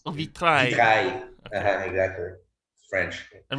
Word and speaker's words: vitrail: So is there no pronunciation of the L? AIL is I, so it makes Vitrail.